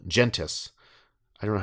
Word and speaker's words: Gentes: Gente? No, it's not French. Gentes. I always assume it's Gentes because It sounds way too close to testes, I was though. going to say it rhymes with testes.